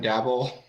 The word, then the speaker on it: Daboll: How you pronounce it? Daboll.